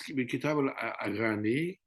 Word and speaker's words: Kitab al-Aghani: I don't know if I pronounce well, Kitab That's perfect. Yes. al-Aghani. And if you look to this Kitab al-Aghani, we noticed that there are some Farsi singers, sorry, Mm.